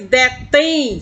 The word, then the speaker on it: detém: Você vê que detém soa mais forte a última sílaba. Por isso é oxítona, recebe um acento agudo.